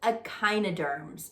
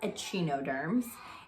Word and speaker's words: echinoderms: i n OD e AR MS but it's pronounced echinoderms so it's not a chi no terms it's pronounced echinoderms so remember we've talked about